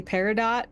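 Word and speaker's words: peridot: an olive green gemstone I think that in in American English we say paradot but I believe it is technically parado parido I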